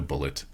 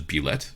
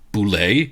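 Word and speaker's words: bulette: i understand that uh some people will pronounce it as bullet because they're sort of shaped like a bullet uh i've always pronounced it as be let so it will i will be saying it as beulet if you say it as boule you will take 30 damage every time i'm i'm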